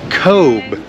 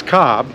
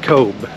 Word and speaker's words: Cobh: the ship today in Kobe Ireland I mean it looks like it says Cobb but I think they pronounce it Kobe we're in the port